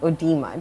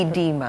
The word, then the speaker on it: edema: Am I did I oema? Did I edema? Edema the O is not pronounced you.